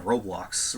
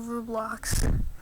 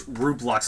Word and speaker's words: Roblox: So, this is basically one game in new Roblox. Uh yes, Rublox is how I pronounced it because my cousin pronounced it like that.